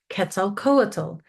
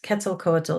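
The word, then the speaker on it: Quetzalcoatl: The Olme were also the first to depict Ketzel coatal in their carvings. Kettzel Cole is spelled q u e t z a l c o a t l and it's a nawatt word.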